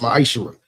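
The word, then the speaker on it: מעשר: Means tenth in Hebrew and it's pronounced ma'aser.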